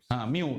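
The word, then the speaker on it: μ: - 6 seconds micro oh the u h mu this is called as pronunciation is Mu mu mu this is micro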